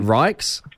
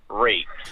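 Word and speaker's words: Ryks: My last name is spelled R-Y-K-S. Right, is that Rikes? Yes, but every single teacher that I've ever had from kindergarten through primary school has pronounced it Reeks.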